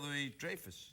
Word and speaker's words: Louis-Dreyfus: Julia Louis-Dreyfus. It's not Dreyfus. What is it then? Dreyfus. Dreyfus? Yeah, like drive a car, but Dreyfus.